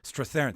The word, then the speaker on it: Strathairn: I never pronounce his name correctly. David Strathairn.